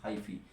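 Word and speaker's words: hyphae: and D is highy pronunciation is highy so my dear students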